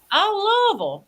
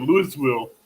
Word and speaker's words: Louisville: Louisville. Oh, wait a minute. Hold up. What did you just call it, Avid?